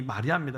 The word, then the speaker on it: 마리아: 여러분 이 히브리식 발음은 미리암이고 신약에 와서 헬라식 발음이 마리아입니다.